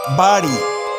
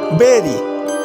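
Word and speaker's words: bury: বাড়ি কবর দেয়া is wrong pronounce, বেরি is right.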